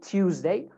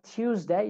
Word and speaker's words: Tuesday: say tuesday american accent tuesday but like i said when you have t and y and t and u you can make that a che sound so instead of tuesday you can say tuesday tuesday aren't you don't